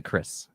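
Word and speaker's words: Kyriss: Maybe a distant cousin of mine, but Kyus. I we pronounce it Chris actually.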